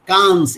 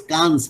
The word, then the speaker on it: Cannes: Yes, Cannes. It is pronounced as Cannes, Nikhil.